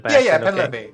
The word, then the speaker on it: Pen Levi: Pen Levi? Is that okay? Is Pen Levi.